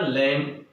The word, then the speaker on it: lamb: तो क्या माने मेमना, लैम। हम LAMB जो होता है, तो बी जब लास्ट में आता है तो ये बी को साइलेंट हो जाता है, इसलिए लैम होता है।